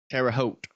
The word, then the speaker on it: Terre Haute: Terre Haute rhymes with goat.